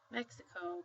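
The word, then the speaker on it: México: H such as um in the word Mexico we say Mexico but in Spanish you would say Meo Mexico um the U oh no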